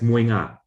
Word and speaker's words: mohinga: colloquially sometimes says meow the favorite breakfast dish mohinga is pronounced as muanga so this is colloquial